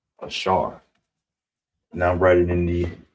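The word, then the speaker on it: בשר: So, how you would say flesh or body Let me get a different color marker. B. Bashar. All right? Bashar. That's how you say body or flesh. Bashar.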